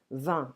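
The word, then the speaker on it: vingt: 20. I don't pronounce G.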